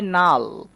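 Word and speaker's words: null: দেখো আমি লিখলাম এন ইউ এল এল। এটা উচ্চারণ করতে হবে নাল।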